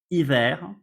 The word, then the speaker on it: hiver: H, you will see it's a letter that when it starts a word, we don't pronounce it.